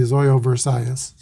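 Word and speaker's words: Zoilo Versailles: figure in the decision here's the pitch to zoilo zoyo versailles versailles that's looked up the pronunciation and it's supposed to be zoyo versailles 2 26 is a swain of s4 versailles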